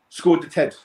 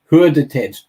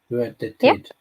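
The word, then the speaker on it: Skördetid: Well, Skådetid was the first way I pronounced it as well. Yeah. And then I think with those sessions that you were talking about, those training sessions were Hurdetid. Yeah, Might be closer.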